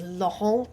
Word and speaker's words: Laurent: But his real name is Laurent Thirion, like Laurent. But you don't say, poor French half the letters don't get pronounced.